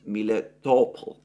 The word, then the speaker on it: Melitopol: which I have pronounced as a Greek word, Melitopol, but which apparently in Russian is pronounced Miletopol.